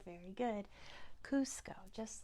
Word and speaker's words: Cusco: do you know you do know it is Cusco very good Cusco just like have you all seen ERS new